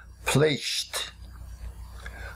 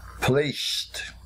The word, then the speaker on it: placed: we write PL a see Edie but we pronounce it placed placed placed X when a verb ends and the letter